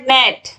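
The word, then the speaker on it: gnat: question number 32 है which letter is silent in the word नेट जो जी है जी इसमें क्या है साइलेंट है ऑप्शन ए सही हो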